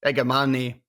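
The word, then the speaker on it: Igamane: Is that Igaman, sorry, I think that's how you pronounce it. I don't think you pronounced the E at the end.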